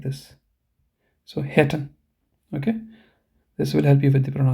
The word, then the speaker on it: hätten: So hätten. Okay, this will help you with the pronunciation.